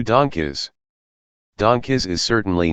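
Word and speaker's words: DONGKIZ: doesn't make sense 2 donkeys donkeys is certainly not the worst name on this list but some fans find it funny that it's pronounced like the word donkeys which isn't something a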